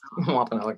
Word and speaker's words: Wampanoag: She's an ICWA manager for the Mashpee Wampanoag Tribe. I hope I pronounced that correctly. Did I? Yes, Wampanoag, yes.